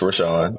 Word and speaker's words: Rwenshaun: s h u n it's not pronounced the way it's spelled it's pronounced ran people ask me all